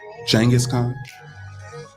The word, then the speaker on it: Genghis Khan: Genghis Khan? Not Genghis Khan? You're saying? I mean, if you're gonna say it properly, it's Genghis, but yeah. With a G-H. Yeah, Genghis Khan.